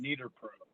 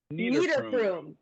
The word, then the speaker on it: Niederprum: it's pronounced Niederprum. Niederprum.